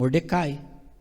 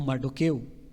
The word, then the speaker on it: Mardoqueu: ali como proeminente o Mordecai ou mardoqueu conforme se pronuncia quem adotou a Radassa